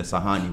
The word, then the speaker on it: Sahani: So Sahani, and it's spelled S-A-H-A-N-I. Sahani. Just how it's spelled is how you say it.